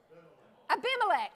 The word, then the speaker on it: Abimelech: saying Emelec Emily Emily Emily Emily and Bullock Abimelech Abimelech there you guys a been way first